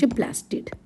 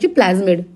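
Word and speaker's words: plasmid: हो ना यहाँ हूँ प्लास्टिड एक्सक्यूज मी नेक्स्ट देख सॉरी स्ट्रक्चर हूँ प्लाज्मिड रॉन्गली प्रोनाउंस करदेली प्लास्टिड बोली प्लाज्मिड next us it shows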